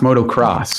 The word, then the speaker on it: Moto X: the face what's that I believe it's pronounced motocross ah thank you for